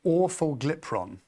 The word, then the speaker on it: orforglipron: It's called orforglipron. Okay. Yeah, don't ask me to do that again. I practiced for a while. It sounds like awful diphthong. There you go. Orforglipron is their oral version.